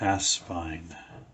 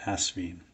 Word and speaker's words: Asvine: entitled something like uh mystery solved how to pronounced ass spine which I got from britinum the horse's mouth and a lot of reviewers of the brand haven't watched that video because they still say aspene anyway this is the